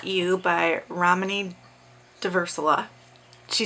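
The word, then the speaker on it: Ramani Durvasula: For reading updates, I finished It's Not You by Ramani Diversala. She says her name on the thing, so I know how to pronounce it now.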